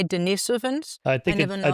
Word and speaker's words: Denisovans: You say Denisovans? I never know how you pronounce I think it.